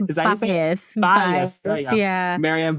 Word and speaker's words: Byous: Byous. There you go. Yeah. Marian Byous. The O is silent and gets everybody.